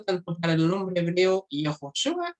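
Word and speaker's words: יְהוֹשֻׁעַ: Por ejemplo, en el caso del nombre de Jesús en hebreo, Yehoshua, ¿cierto? Se pronuncia así en arameo, pero o sea, en hebreo, perdón, y en arameo se pronuncia Yeshua.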